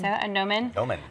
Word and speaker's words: gnomon: A gnomon? Gnomon. It's spelled like gnome. Like gnome is okay. With a G. The G is silent.